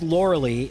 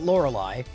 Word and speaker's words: Lorelei: not liking my odds we start off with laura lee and you can tell i didn't play a lot of pokemon stadium one because even pokemon stadium one pronounces it lorelei but no need to